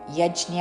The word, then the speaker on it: యజ్ఞ: యజ్ఞ జ కి ఇన్వద్దు సంస్కృతంలో జ్ఞ అన్నది సరైన ఉచ్చారణ కాబట్టి మనము యజ్ఞ అని పలుకుదాము.